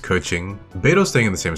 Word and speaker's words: Keqing: I'm trying to think if I should move Keeching up. Or I believe it's actually pronounced Keqing.